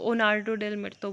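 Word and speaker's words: Jornada del Muerto: Dead man's journey, जोनार्डो डेल मिर्तो, ठीक है, इसको ओनार्डो डेल मिर्तो बोलते हैं, जे इज साइलेंट, तो ये है।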